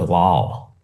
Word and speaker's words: LOL: Well, how many people have you heard actually pronounce the word lol? No, nobody does. No, people do. Really? Yeah. I'm hanging out with the wrong people. They actually say lol instead of LOL.